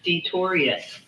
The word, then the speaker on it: Detorious: Is Detorius is that how, am I saying it right? DETORIOUS? Yeah. You know what? Or Dink. Or Dink. DINK. My daughter's name is Tori, so I like that. Detorius.